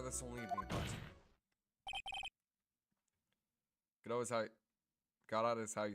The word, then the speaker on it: Godot: Godot? Godot? Von Karma looks like he's decaying. Yeah. Godot is what I say.